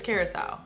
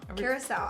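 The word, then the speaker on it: Curaçao: do you say this fat-ass owl owl it's Curacao Curacao I say carousel I don't know anything that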